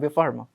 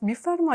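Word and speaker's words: بفرما: खाओ, वो कहते हैं बेफार्मा। बेफार्मा। फरमाइए, ऐसे फरमाइए। फरमाइए। हाँ ठीक है, बेफार्मा। मैंने काटो। हाँ ऐसी बेफार्मा। In a very German way, Germanish way, you just pronounce Bifarma. No, Bifarma. बेफार्मा ऐसे।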